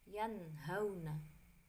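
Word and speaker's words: يَنْهَوْنَ: Contohnya, nun sukun bertemu dengan huruf ha, bacanya yanhauna. Jadi dibaca jelas, idhar itu jelas, tidak berdengung ya, yanhauna.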